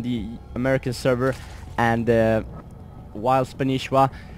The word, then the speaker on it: Spanshwa: Yes, it is pronounced Spanishiwa, even though his name spells Spanshwa.